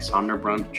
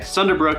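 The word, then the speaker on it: Sunderbruch: me when I said sunderbrook I said like sonder brunch or something like that anyway sunderbrook is another great Park that you can go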